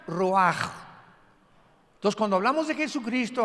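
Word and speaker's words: רוח: como suena con R de Raúl, ch al final, Rash y se pronuncia Roaj.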